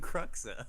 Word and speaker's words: Cruxer: so how was he so bad at manipulating cruxer I thought it was really cool scene and